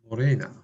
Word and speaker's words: Morena: Morena. Morena is like that corona.